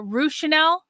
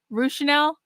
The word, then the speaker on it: Ranel: And you get spicy with the trolls is pronounced R uh Ranel. Ranel.